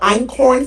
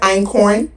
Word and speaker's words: einkorn: It's not new, but einkorn flour has now been making its way on TikTok and social media. It's a healthier flour substitute for all-purpose flour. Have you seen that einkorn?